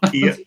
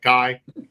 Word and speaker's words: Kai: Like I said, Kai Trump. Kia. Kia. Kia is a car. Kai.